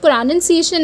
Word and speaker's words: pronunciation: No, there is a difference between pronoun and pronunciation.